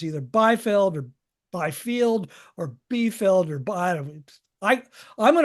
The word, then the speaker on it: Biefeld: And now this is birth of the Byfield Brown effect, right? Yeah, I believe it. Yeah, I think we have 3 or 4 different pronunciations now. I call it the Biefeld Brown effect.